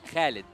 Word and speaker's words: Khalid: Actually, my real name, it is Khalid. Khalid. Yeah. Okay, so that's how we pronounce it.